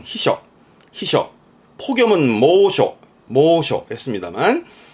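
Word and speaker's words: 避暑: 발음은 히셔.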